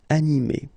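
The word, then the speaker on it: animée: So masculine form, animé, and then the feminine form, animé. Okay, you don't pronounce this e, but then you should write it.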